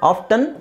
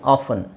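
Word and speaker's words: often: ಮಾಡ್ತಾರೆ foreigners foreigners ಅಲ್ಲೇ ಈ ಎರಡು ಪದನು ಇದೆ ಆಫ್ಟನ್ ಆಫನ್ ಎರಡು ತರನು ಯೂಸ್ ಮಾಡ್ತಾರೆ ಅವರು ಸೊ ಐ ವುಡ್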